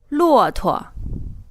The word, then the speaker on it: 骆驼: 骆驼 This word means camel. And you can see again that the second syllable is unstressed.